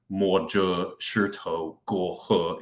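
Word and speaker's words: 摸着石头过河: feeling the stones, or, mo zhe shi tou guo he is how you say it in Chinese.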